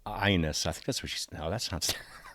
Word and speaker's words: Agnes: pronouncing her name correctly I say Agnes Obel that's not how to pronounce her name at all it's pronounced like this my name is I don't know how this I'm just going to call her Agnes I'm sorry I'll call her ionis I think that's what